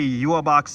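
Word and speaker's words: Yhwach: Yeah, that's how you say Yuabak's name, by the way.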